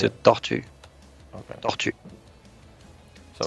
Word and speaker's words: tortue: well, if it's supposed to be the animal, it's a tortue.